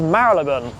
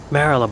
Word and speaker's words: Marylebone: One with a really interesting history is Mariban. Maralaban or Mariban. Marleon or Marleon.